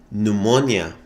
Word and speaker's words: pneumonia: to pronounce in English pneumonia is the kind of disease the way it's written though it starts with a P I hate the